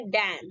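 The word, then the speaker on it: damn: Next D ए एम एन, एन से पहले एम आया, तो ये आपका एन साइलेंट रहता है, और इसीलिए इसको हम क्या बोलेंगे, डैम।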